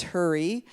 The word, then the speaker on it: Hourie: Hurry might not be spelled like you think. It is spelled Hourie. Often in Métis histories, actually it's spelled a variety of ways in Métis history books, but and pronounced more than one way too.